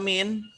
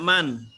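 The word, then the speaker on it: من: Kenapa dibaca min? Tidak man. Konteks sekali. Karena konteks kalimat. Lihat dari konteksnya.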